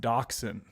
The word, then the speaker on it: dachshund: It's pronounced Dachshund.